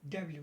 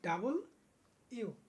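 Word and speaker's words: W: আমরা এখানে এটাকে বলি কি ডাব্লিউ, কিন্তু এটার উচ্চারণ হলো কি কি ডাবল ইউ। কি উচ্চারণ? ডাবল ইউ।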